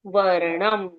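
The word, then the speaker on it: वर्णम्: second चरण शशि वर्णम ण के ऊपर रेफ की मात्रा है और एक डॉट है तो उच्चारण होगा शशि वर्णम शशि वर्णम ओके शशि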